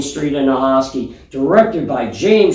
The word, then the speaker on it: Jayme: Well, how many times I've got my name mispronounced, and it's Jayme. It's very phonetic. Yeah, I How mean, can you mess that up?